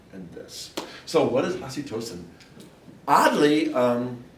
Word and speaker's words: oxytocin: But no, it's oxytocin.